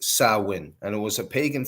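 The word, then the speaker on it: Samhain: that it's written we think that it's actually pronounced Sam ha but it's actually pronounced sawin and it was a pagan Festival that started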